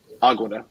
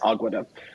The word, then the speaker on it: Aguada: we finish the gueda Aguada sorry I always keep one segueda but that's not how you pronounce it I don't want to offend anybody it is Aguada um so basically what